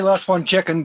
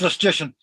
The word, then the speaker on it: Lecision: Well, a lot of people say last one chicken, but don't worry about that. It's Lecision.